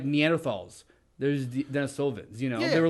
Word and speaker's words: Denisovans: Mispronouncing it. Denisovians. It's pretty damn close, I think. It is an I think it's putting entire an emphasis on the different... wrong syllable there.